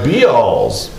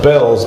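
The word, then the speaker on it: Bealls: But hey, we're heading into local school news, brought to you by B-Alls. B-Alls. Or no, Bells, but the second L is silent.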